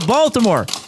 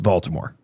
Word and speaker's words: Baltimore: Do you remember how he pronounced Baltimore? No. Baltimore. Baltimore. Is that how they say it if you live there? I think if you're a Baltimorean, you pronounce it Baltimore.